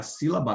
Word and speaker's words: sílaba: que tem o quê tem o si aqui que é pronunciado com maior intensidade né si então no caso aqui a sílaba tônica é o si porque a aqui é pronunciada com maior intensidade com mais força sílaba tá bom Então nesse